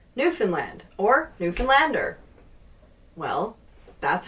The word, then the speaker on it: Newfoundland: And don't pronounce it. Don't pronounce all the syllables like tightly. Newfoundland. Newfoundland. Newfoundland.